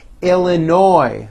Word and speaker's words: Illinois: Florida Georgia Hawaii Idaho Illinois the final s is silent Indiana Iowa Kansas Kentucky